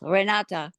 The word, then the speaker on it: Renata: n a TA right well in German it's rate but nobody in America can say that they call me re that's why I tell them rata you can say renati I want to say renati with an E right